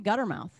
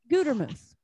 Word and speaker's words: Gutermuth: But a lot of people call me Guttermouth. And it's really annoying. It makes me mad. It's like you can't even pronounce a simple word. Come on. One T, you know, one T and a long U. Gutermuth, right? Not that hard.